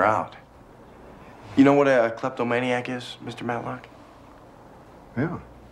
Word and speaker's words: kleptomaniac: You know what a kleptomaniac is, Mr. Matlock? Yeah. I used to know a fellow that pronounced that word kleptominerac.